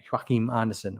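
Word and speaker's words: Joachim Andersen: Well, we haven't spoken about the centre back at Crystal Palace, whose name can get pronounced 1,000 different ways. Anderson. Joachim Anderson.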